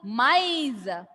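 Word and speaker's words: maïs: With trema, the pronunciation is maize. Please do repeat everyone. Maize. See, listen to my pronunciation. Maize. R sound and E sound is pronounced separately. Maize.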